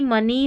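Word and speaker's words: money: की मनी hockey, तो यहाँ पर ई शब्द के अंत में EY कई बार बड़ी ई की जैसे पढ़ा जाता है।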